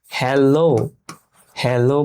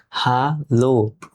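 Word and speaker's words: Hallo: প্রথমে আমরা দেখি এখানে আমরা ইংরেজিতে যখন হ্যালো হ্যালো বলি কিন্তু জার্মান ভাষায় এরকম প্রোনাউন্সিয়েশন হবে না। জার্মান ভাষায় হবে হালো। হা লো দেখছেন হা লো।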